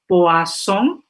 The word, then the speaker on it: poisson: Par exemple, mungkin di SMA sudah diajari gurunya poisson, P-O-I-2-S-I-N ya, I-O-N ya, artinya ikan. Kalau S-nya satu, poison, S-nya antara dua huruf artinya racun.